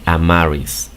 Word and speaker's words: Amaris: Si dices esto rápido, am, are, is, vas a resultar con este nombre, Amaris, ¿ok?